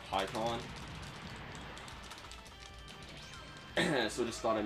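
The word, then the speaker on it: Pikkon: I know in the few episodes where I had PyCon, I was pronouncing his name wrong. I now know his name is pronounced PyCon. I'm sorry about the whole mispronunciation thing that I had in the earlier episodes when I was pronouncing him PyCon instead of PyCon.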